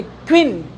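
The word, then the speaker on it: queen: अगर ये नाउन बन गया तो इसको किस तरीके से हम लोग प्रोनाउंसिएशन करेंगे, तो देखते क्वीन।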